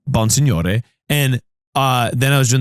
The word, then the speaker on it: Bonsignore: But it is a Sicilian name, so it's Bonsignore.